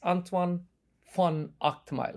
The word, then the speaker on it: Antoine van Agtmael: EO podcast should know that my guest is antoan f Ile have I got your pronunciation correct absolutely yes brilliant now antoan um